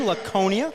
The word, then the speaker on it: Laconia: It's a hard C, Laconia. I thought so. Here I thought I was saying it wrong all these years, but Yeah, no, it's definitely Laconia, not Laconia, but that's all right.